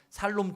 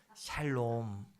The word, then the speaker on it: 샬롬: 글자로 짧게 잘 넘 살롬 죽인 놈 아니고 샬롬 발음을 잘 하셔야 돼요 잘 넘 한번 옆에